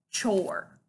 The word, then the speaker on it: chore: And we don't have a special sound, O-R-E, but the E is silent. And the word is chore.